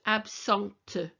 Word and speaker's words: absente: And when you have a T with an E, you hear the T. So it's absente, présent, présente, absent, absente.